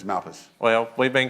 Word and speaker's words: Malpass: 236 Brothers yeah I just learned how to pronounce that that's all right did he do okay it was going to be Malpass until somebody walked up to me and said it's Malpass well we've been called Everything some people don't